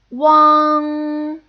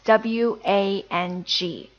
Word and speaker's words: Wang: common Chinese surname, and I know many foreigners will pronounce it as Wang, but actually now we know that it should be pronounced as Wang, Wang.